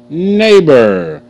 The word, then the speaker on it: neighbor: good Freight neighbor a NE neor neighbor okay GH is silent okay that see that